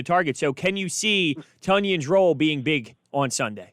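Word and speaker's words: Tonyan: We had all been calling him Tanyan, and finally, after he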